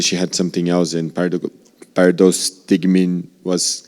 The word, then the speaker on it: pyridostigmine: Pyridostigmine, Pyridostigmine.